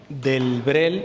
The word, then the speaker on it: Delbrel: Madeline Delbrel es D-E-L-B-R-E-L, Delbrel. Lamentablemente no hay mucho en español, ya hay algo. De hecho, una de las mayores expertas en Madeleine Delbrel es, les digo, una monjita española.